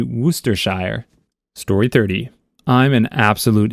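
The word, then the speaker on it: Worcestershire: with the steak sauce Worchester Shire I think it's actually meant to be wers Shire story 30 I'm an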